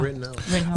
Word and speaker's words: Rittenhouse: Now, really quick, the Kyle Rittenhouse, is that how you pronounce it? Yeah, Rittenhouse.